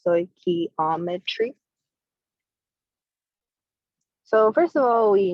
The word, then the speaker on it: stoichiometry: lesson is going to be on stoichiometry it's pronounced stoichiometry so first of all we need to know